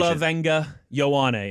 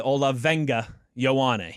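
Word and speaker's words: Olaivavega Ioane: Olga Yan is how he pronounces his name. So if you listen to the end, Olga Yawan, but then we just have this battle.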